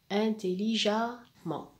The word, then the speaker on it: intelligemment: le mt et s'adonne intelligemment et je précise que le à se prononce le eux se prononcent a intelligemment voilà et la même règle